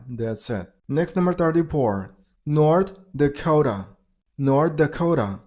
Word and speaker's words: North Dakota: North Dakota. North Dakota. While you pronounce the second word, you got to stress on the second syllable.